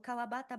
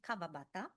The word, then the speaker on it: Kawabata: For example, the pronunciation of the syllable wa is pronounced very frequently as va. So kawabata becomes kavabata.